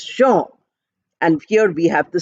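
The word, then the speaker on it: Jean: j e a n j e a n pronounced as Sha and here we have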